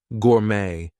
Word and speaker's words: gourmet: But anyway, T is going to be silent in some words. There might be words that are borrowed from other languages, etc. So things like ballet, gourmet, we are not going to pronounce the T there.